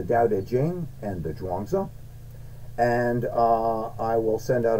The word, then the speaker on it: Zhuangzi: It's either it's pronounced Zhuangzi, whether you spell it with the Z or the CH. It's pronounced Zhuangzi.